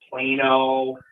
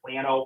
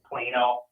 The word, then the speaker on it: Plano: Plano. That's how it's pronounced. You might pronounce it Plano, but no, it's Plano.